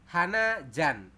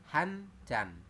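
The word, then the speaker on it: 한 잔: Yang hana dibacanya jadi han. Contoh, kopi hana jan. Itu salah. Yang benar adalah kopi hanjan.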